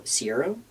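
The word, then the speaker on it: Caeiro: time were these three different ones were Alberto Sierro. I hope I'm pronouncing that right.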